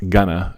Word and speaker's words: going to: I'm really excited about this new plan because I think it's pronounced gonna, everybody says gonna, even though it's written going to, but I think it's